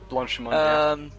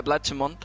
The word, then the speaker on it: Blanchimont: But also, as you said before, if I'm not mistaken when pronouncing it, Blanchimont, right? Blanchimont, yeah, Blanchimont.